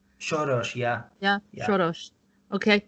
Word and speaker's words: Soros: Soros.